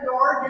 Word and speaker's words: Neorr: So yes, my name is Karen Neorr, and it's pronounced Neorr. Just ignore the E.